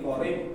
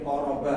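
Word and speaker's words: قريب: nanti kalau sudah terbiasa oh ini qorib enggak mungkin qoraba ya qorib ini. Ini bacanya qorib ini masih enggak ada harakatnya.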